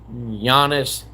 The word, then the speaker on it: Giannis: And number one is Giannis Antetokounmpo because of the fact Giannis starts with a G, so you would never try to spell it. The way it's pronounced, meaning that it's pronounced with a Y and then Antetokounmpo is of course Greek.